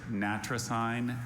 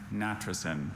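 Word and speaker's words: natricine: Are there any alternate pronunciations? Just the two. There's Natrasign and Natrasen.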